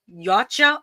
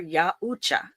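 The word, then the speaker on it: Yautja: In that book, the predators refer to themselves as yaucha, often pronounced yacha or yaucha.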